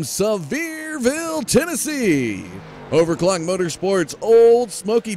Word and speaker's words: Sevierville: Up next, this guy was gracious enough to give me the pronunciation of his hometown from last night. This is the 00 of Travis Houck from Sevierville, Tennessee.